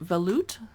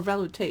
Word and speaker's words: velouté: Cherries, lobster bisque recipe, simple vegetable potage, celery root veloute, or velouté, excuse me, vichyssoise, We often get people rudely correcting our pronunciation instead of politely on YouTube.